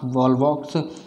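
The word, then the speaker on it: Volvox: अब यहां पर देखिए वॉलवॉक्स की बात करते हैं हम यहां पर यह वॉलवॉक्स होता पिछली बार जो लास्ट स्पेलिंग थी ना वह वॉल बॉक्स है ठीक है वाल वैक्स नहीं है ठीक है अब मुझे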